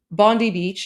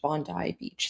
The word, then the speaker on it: Bondi Beach: Now, I I did pronounce it Bondi Beach in in my video where I spoke about it, um but I was corrected. Um I was told by Australians it's pronounced Bondi Beach.